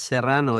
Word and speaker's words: Serrano: Yes, Serrano. It sounds in the Spanish, but it's okay.